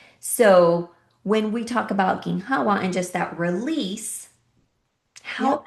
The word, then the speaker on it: ginhawa: Um, I want to just ask a little bit more about ginhawa.